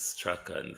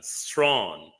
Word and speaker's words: Strachan: Strawn is a quite much different thing. This is a popular British name. Strachan. Strachan. That's the pronunciation. Strachan. Strachan is the pronunciation. If he wants his name to be pronounced Strawn, he will have to spell it differently.